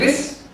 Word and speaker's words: QRIS: Kalau misalnya tadi, apakah dengan adanya Kris ya? Jadi bukan QRIS, Kris, jawabnya Kris, jangan QRIS. Nanti malu kalau orang tahu ya. Jadi kalau misalnya meskipun dia QRIS, bacanya Kris.